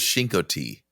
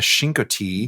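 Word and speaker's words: Chincoteague: It sounds a lot different than it's spelled. It is spelled C H I N like chin.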